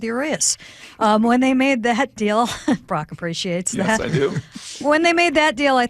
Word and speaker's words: Urias: Strangely enough, curious rhymes with Urias.